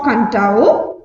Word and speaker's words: Kadavu: okay what's today's class the secret turtles of kantao it is a fijian legend okay are you ready let's start okay listen on the islands of kantao pronounced kantao one of the larger islands of fiji